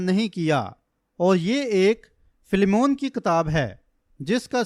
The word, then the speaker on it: فلیمون: نہیں کر پاتا ہوں۔ پس کسی نے پیچھے کہا تھا فلیمون، جو کہ میرے خیال میں اس کا درست تلفظ ہے۔ اب پہلی آیت، میں